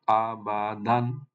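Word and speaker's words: أَبَدًا: আবাদান, আবাদান, আবাদান, না আবাদান, এভাবে তেলাওয়াত করবো এটাকে, আবাদান।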